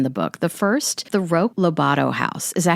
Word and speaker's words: Roque Lobato: The first, the Roque Lobato house. Is that how you pronounce it? Roque Lobato, yes.